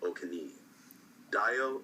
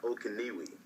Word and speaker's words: Okeniyi: it's di um and my last name is pronounced OK Dio OK not okwi Mary I've been watching your your Vlogs by